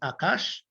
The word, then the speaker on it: Akaash: His name is Brother Akash Maharaj. It is spelled A-K-A-A-S-H, that is Akash.